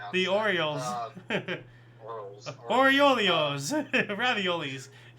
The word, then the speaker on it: Orioles: If you like baseball, uh, Baltimore, uh, Orles, I don't know how to pronounce the Orioles.